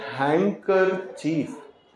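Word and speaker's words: handkerchief: handsome इसी तरह से हैकर चीफ एच ए एन डी के ई आर सी एच आई ए क्या पढ़ा जाएगा इसको डी को खामोश करके हैकर चीफ रुमाल हैकर ची अब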